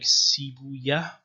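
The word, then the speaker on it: Sibawayh: or C by he this is a Persian name and Persian that was probably pronounced like sibuya was a grammarian he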